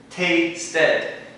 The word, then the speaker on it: tasted: It's an extra ed at the end, not just the tasted. The reason for that is because it's T-A-S-T-E-D, S-T before the E. We have to pronounce that extra. Otherwise it would just be taste. So we're going to pronounce this E extra hard.